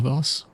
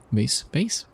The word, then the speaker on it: vase: So both of them are right, it just depends on where you are from.